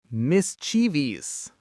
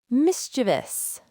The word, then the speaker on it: mischievous: I'll say the common mistake, you give me the correct pronunciation. First up, espresso. Espresso. Mischievous. Mischievous.